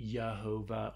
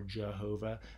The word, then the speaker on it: Jehovah: And then in Latin, if you've ever seen Indiana Jones, in Latin, J starts with the J sound means Y. And so they say Yehovah or Jehovah.